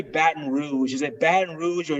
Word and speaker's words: Baton Rouge: So Lido, Louisiana, is it how do you say Baton Rouge? Is it Baton Rouge or is it something else? No, it's Baton Rouge. Okay. If I pronounce it like a French person, it's Baton Rouge.